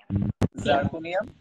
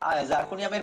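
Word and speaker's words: zirconium: এটা হচ্ছে titanium, titanium, জার্কোনিয়াম, হ্যাফনিয়াম। Titanium এটা জেড, জার্কোনিয়ামের বানানটা দেখো, বানানটা হচ্ছে ZIR, কিন্তু এটা হচ্ছে জির্কোনিয়াম অনেকে বলে, কিন্তু জির্কোনিয়াম নয় এটা জার্কোনিয়াম বলাটাই ভালো।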